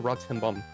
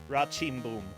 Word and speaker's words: Rá-Tim-Bum: I pronounce this wrong, Castelo Ratimbum. Rachimboom. Rachimboom? Okay. Rachimboom. Yeah, technically the M's would just go up into your nose and be nasally.